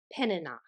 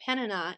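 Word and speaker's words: Peninnah: had another wife and I believe you n you pronounce her name penina and penina had many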